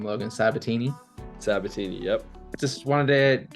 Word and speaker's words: Sabitini: how do you say your last name Logan sabatini satini yep just wanted to get a chance